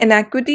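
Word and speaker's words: inequity: ये है इनएक्विटी, ये है एनिक्विटी, that is a pronunciation difference.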